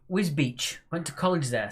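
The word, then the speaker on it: Wisbech: Wisbeck pronounced Wisbeach.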